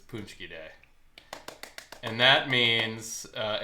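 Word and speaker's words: paczki: and are not polish it's spelled p a c z k i punchki that's an amazing spelling punki not look like it says punki well it's polish so um so yeah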